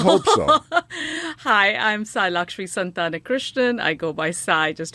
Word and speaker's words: Santhanakrishnan: So I can pronounce it for you, Paul. I would hope so. Hi, I'm Sai Santhanakrishnan.